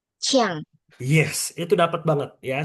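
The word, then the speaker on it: qiang: Kalau Q I A N G jadinya Chiang.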